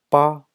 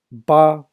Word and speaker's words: 八: And the second one is 八. 八. It is a number 8. Sounds like Baba Black Sheep. 八, same thing. First tone 八.